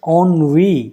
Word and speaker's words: ennui: अगर आप लोकल हिसाब लगाओगे तो NUI टाइप का आप सोचोगे, but it is not the correct pronunciation। It's pronunciation is ऑनवी, जैसे कि आप इसको ऐसा समझिए ऑनवी।